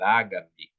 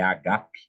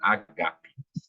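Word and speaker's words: ἀγάπη: a palavra para ágape, mas no grego o acento não é no A do ágape, mas então é agape, né? A sílaba tônica no português mudou um pouco. Então falamos errado, de certa forma, né? No grego seria agape.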